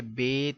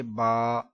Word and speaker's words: ب: لہجے میں ادا کریں، اردو تلفظ سے پرہیز کریں، یعنی کہ بے، تے، سے، ہے، خے، توئے، زوئے وغیرہ ہرگز نہ پڑھیں، بلکہ با، تا، سا پڑھیں۔ یہ بے، تے، سے،